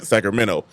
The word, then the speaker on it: Sacramento: Sacramento. Ain't no T in it. It's just minnow, like Elemento.